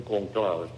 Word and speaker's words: conclave: Llave en italiano llave y en español se dice cóncave, pero los italianos le dicen cónclave.